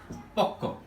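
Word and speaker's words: পক্ব: যেমন আমরা একটা লিখলাম পক্ষ, এটা আমরা সাধারণত পক্ষ উচ্চারণ করি, কিন্তু এটা যদি আমরা অরিজিনাল উচ্চারণ করি তখন আমরা কি করি? পক ব। এখন আমরা যখন পক ব উচ্চারণ করব, এটা উচ্চারণ করতে গেলে দীর্ঘ সময়ের প্রয়োজন হয়, পক ব। কিন্তু এখন যদি আমরা উচ্চারণ করি পক্ক, তখন আগের চেয়ে সময়টা একটু কম লাগে।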